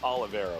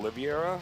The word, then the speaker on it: Oliveira: bust it through so the correct way to say his name is Oliveira right yeah this ID actually breaks my brain oh it's such a case I've been calling sometimes I call him oliviera Olivia and like I